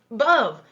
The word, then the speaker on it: above: i'm sorry in above above rhymes with love do you see that